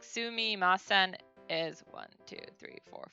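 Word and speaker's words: すみません: it it's literally if you break it down su me ma sen it's pronounced just like that is the only letter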